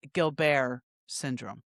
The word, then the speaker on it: Gilbert's syndrome: It's spelled Gilbert's syndrome syndrome, but it's pronounced Gilbert syndrome.